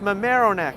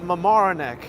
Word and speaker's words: Mamaroneck: but they were like that's not how you say it it's my marrow neck not Mamaroneck and I was like